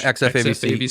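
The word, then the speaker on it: XF-AVC: One, you can only shoot in like the 10-bit XF AVC. Is that how you say it, Josh? Yeah, XF AVC.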